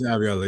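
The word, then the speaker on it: Iraola: And I think that's where you're looking at sort of this Ariola, if I'm pronouncing it is that is right, isn't it? It's Ariola, yeah.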